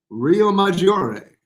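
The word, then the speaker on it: Riomaggiore: Rio Maggiore. How was that pronunciation?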